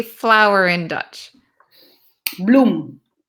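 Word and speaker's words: bloem: say flower in Dutch bloom bloom bloom like bloom like flowers blooming but then we add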